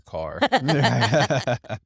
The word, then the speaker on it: Kerr: typical arguments of like is it Kerr or Carr I'm told it's car um but you're from